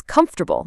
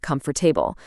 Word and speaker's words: comfortable: It's comfortable, not comfortable.